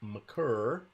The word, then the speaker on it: Maker: one point six on maker slash maccer one point four by the way he goes by either last name yeah and it's aunt